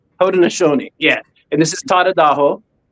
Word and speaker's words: Haudenosaunee: Haudenosaunee. Haudenosaunee, yeah.